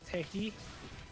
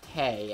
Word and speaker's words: Tewi: Or, well, technically it's Tehi. I've heard it pronounced Tay, and that's the general synopsis because, of what. Yeah, because W doesn't... The W is silent. No, the W was supposed to be like an old one. And now it's used as a H.